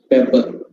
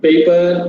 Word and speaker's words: paper: they tend to use they tend to say pepper kindly forget pepper even my mom she is an illiterate as i always say paper paper paper even my mom has corrected it